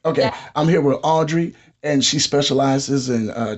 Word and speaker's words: Audrey: I'm here with uh you said they call you Aubrey well Audrey Audrey just call me Audrey okay I'm here with Audrey and she specializes in